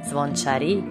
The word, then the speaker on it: zvončari: sometimes the bell ringers called zvon chari or as locals say zvon chari sometimes they walk 20